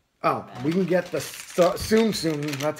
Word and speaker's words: Tsum Tsum: Oh, we can get the Tsum Tsum. That's how they pronounce it.